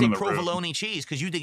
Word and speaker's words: provolone: It's not provalone. It's not minestronei.